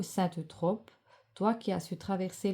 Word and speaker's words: Eutrope: Invoquer Saint Eutrope, ah puis c'est pas Europe, j'ai mal prononcé, pardon, Saint Eutrope en récitant à voix haute.